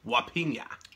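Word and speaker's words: Jupiña: It's called Jupina. Well, they don't say J's. Pineapple in, soda. In Spanish. Oh, yeah. So it's Wapina.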